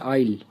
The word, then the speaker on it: aisle: Next है आइल। इन दोनों ही word का प्रोनाउंसिएशन होता है आइल।